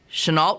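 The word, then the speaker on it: Chennault: Anna tional senal thi think she pronounced it uh Chenault represented Nixon she met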